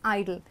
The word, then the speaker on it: idle: is ID L that's idle so the pronunciation of both are same but the meanings are completely different okay now we're going